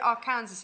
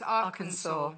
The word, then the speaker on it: Arkansas: So what did I called it Arkansas. It's not. It's Arkansas.